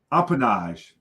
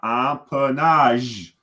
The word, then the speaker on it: empennage: So this word, empennage, right? The E short O, empennage, right? The G makes the ZH sound, empennage, right? The E, yep. And if you look here, again, phonetically, there's 3 syllables, empennage, right?